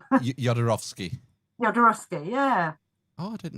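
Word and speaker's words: Jodorowsky: Yodarovski.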